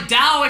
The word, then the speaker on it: Tao: is to you mean Dao the word that's spelled like Tao but pronounced like Dao except by people that